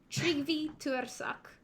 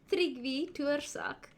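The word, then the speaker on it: Tryggvi Tuirseach: one, and believe me, he is pronounced Tryggvi Tuersak. That is what Berza said, so don't correct me in the future when I slaughter his name, please. It's Tryggvi Tuersak.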